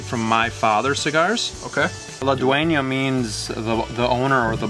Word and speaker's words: La Duena: It's pronounced La Duena.